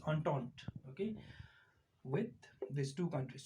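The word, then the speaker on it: Entente: as triple undone so this is pronounced as untaunt okay with these two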